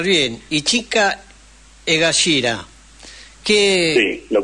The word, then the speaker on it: Ichika Egashira: No sé si lo voy a pronunciar bien. Ichika Egashira.